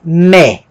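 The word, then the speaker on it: μή: Mi e eta vai formar mé.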